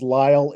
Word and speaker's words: Lisle: John, and I believe the last name is pronounced Lyle. It's Lisle.